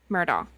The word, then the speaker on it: Murdaugh: Ma Murdo. Okay, that's what I had in my head. So maybe I do have it right now cuz you guys know I'm saying it wrong.